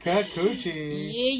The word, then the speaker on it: Kikuchi: You say Kikuchi.